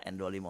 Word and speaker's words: IN25: Kalau tulisannya IN25 ya. Bacanya N. N bacanya ya, N25. N25.